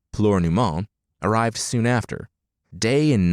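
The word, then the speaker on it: Plúr na mBan: Oscar had been born nearly a year after he arrived, and Flower of Women, apparently pronounced Pleurnument, arrived soon after.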